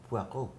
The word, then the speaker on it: Poirot: Hercule Poirot. It is how you say my name.